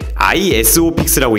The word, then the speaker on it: ISOFIX: 정확하게 읽을 때 ISOFIX라고 읽는 게 맞는데요.